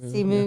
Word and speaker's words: Simu: Simu.